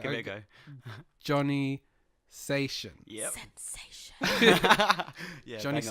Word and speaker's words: Sachon: So today I'm joined by, and I'm going to pronounce his surname correctly Go on, give it a go. Johnny Sachon.